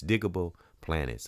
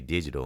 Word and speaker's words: Digable Planets: I don't know why I used to say it wrong for some reason, but it's Digable Planets. I think I would get it confused with digital underground. I would say digital and it's not digital cuz I've done um tributes to different artists.